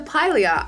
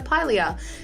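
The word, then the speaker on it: Pilea: third plan I got I just got the pronunciation it's a Pylea I've always thought it was like a holy hour play I don't know what's wrong with me but it's a Pylea they like these little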